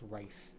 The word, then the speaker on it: Ralph: his name as Ralph, can be pronounced Rafe. And that's Rafe Fiennes. That's his name. It's not Ralph Fiennes, it's Rafe Fiennes.